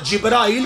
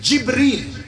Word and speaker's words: جبریل: بھائی جی نہ جبرائیل کہنا ہے یہ غلط ہے، نہ جبریل کہنا ہے یہ بھی غلط ہے. تلفظ ہے بکسر الجیم جبریل.